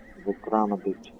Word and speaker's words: Vikramaditya: Vikramaditya. That's how you pronounce that name.